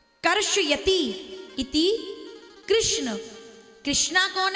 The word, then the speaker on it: कृष्ण: ये जो लोग बोलते हैं ना हरे कृष्णा हरे कृष्णा कृष्णा कृष्णा नहीं देखिए यह शुद्ध उच्चारण नहीं है। भगवान का नाम कृष्णा नहीं है। क्या नाम है? कृष्ण कृष्ण कृष्ण है।